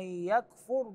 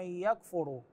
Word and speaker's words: يكفر: الرشد من الغي فمن يكفر الطاغوت الراء في كلمه يكفر ساكنه بعضهم يقراها بالضم يقول فمن يكفر هذا مو صحيح هنا